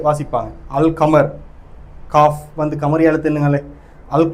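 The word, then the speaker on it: القمر: அது என்னன்னு சொன்னால் அலிஃப் லாம் அல்லுண்டியும் தானே, அல்லுக்கு பிறகு கமரியா எழுத்துக்கள் வந்துச்சுன்னு சொன்னால் லாமை வந்து உச்சரித்து வாசிப்பாங்க. அல் கமர், காஃப் வந்து கமரியா எழுத்துங்களே, அல் கமர்னு வாசிப்பாங்க.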